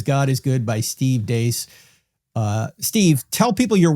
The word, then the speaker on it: Dea: That's d ace. It's spelled like d but it's pronounced dace.